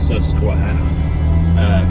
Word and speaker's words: Susquehanna: How do you pronounce that? Susquehanna.